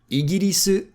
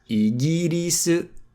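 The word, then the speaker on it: イギリス: We have Igiris, Igiris, Igiris for England, and then we have Deutsch for Germany, because it comes from Deutsch.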